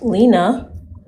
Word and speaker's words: Lania: And it's actually pronounced Lena. Okay, Lena. I know the I is confusing. It's silent.